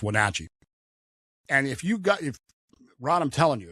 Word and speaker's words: Wenatchee: little place called Wenatchee, which I like to mispronounce on purpose, Wenatchee, but it's Wenatchee.